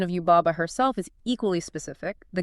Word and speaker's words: Yubaba: And the pronunciation of Yubaba herself is equally specific. The guide breaks down the syllables really carefully. How so? Well, the Baba part is not pronounced like a sheep going baa.